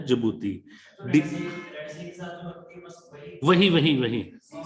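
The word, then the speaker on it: Djibouti: ठीक है, इट is pronounce है जिबूती।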